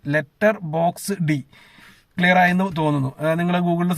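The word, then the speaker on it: Letterboxd: ലെറ്റർ ബോക്സ് ED എന്നാണ് എഴുതിയിരിക്കുന്നത്. ലെറ്റർ ബോക്സ് D എന്നാണ് വായിക്കുന്നതെന്നാണ് ഞാൻ മനസ്സിലാക്കുന്നത്. എന്റെ ഉച്ചാരണം ചിലപ്പോൾ തെറ്റായിരിക്കും. ലെറ്റർ ബോക്സ് D ക്ലിയർ ആയെന്ന് തോന്നുന്നു.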